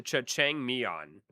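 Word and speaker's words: 짜장면: It's pronounced jajangmyeon.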